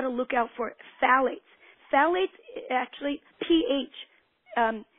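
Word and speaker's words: phthalates: then you've got to look out for phalates phalates actually pH um it's that's the way it's spelled phet but put a pH in front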